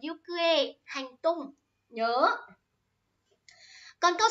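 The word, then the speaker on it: 行方: Đấy, bạn kẹo đắng ơi, ikikata là sai rồi nhá. Phải có chữ ki ở giữa thì mới là ikikata. Có nên đọc là yukue, hành tung.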